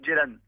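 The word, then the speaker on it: Ceylan: Voilà, on dit Jan parce que c'est d'origine turque.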